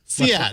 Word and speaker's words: SEAT: now that the the car brand seat is actually pronounced cat much like oh so